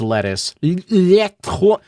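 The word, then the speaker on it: LeTouse: Why do you keep saying his name wrong? It's Lettuce.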